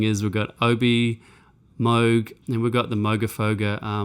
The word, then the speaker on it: Moog: We've got, again, OB6 basses, then we've got some Moog or Moog, I think Americans say it. It's funny because in Australia we say Moog, but apparently the rest of the world says Moog, so I have to